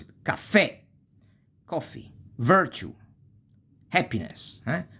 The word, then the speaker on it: caffè: tronche, tronche mean truncated, if the accent goes on the last syllable. And here usually you have a graphical accent, like caffè. You see, you have the accent and you pronounce it, caffè, coffee, virtue, happiness, virtù, felicità, right?